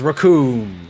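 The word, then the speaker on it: Recoome: two additional normals wonderful the name's raccoon and it rhymes with doom I mean he did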